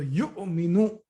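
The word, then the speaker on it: يؤمن: So here you have to pronounce it as a hamza. So yu'minu, like that.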